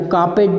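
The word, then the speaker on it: carpet: ये आप देखो कार्पेट जो बोला, ये बीच वाले आर को साइलेंट करना है, आगे या पीछे वाले को नहीं।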